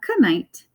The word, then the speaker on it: knight: So in Old England, they might have said a knight, but remember they dropped the K.